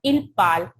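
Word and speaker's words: parlent: Because in French, ENT is silent. That's why it's become il parle.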